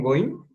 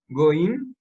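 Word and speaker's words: גוי: Goi, sin el in, si es singular, goi.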